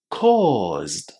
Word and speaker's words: caused: Well, I hope now that I have said that it's pronounced with a long O, you would have said caused.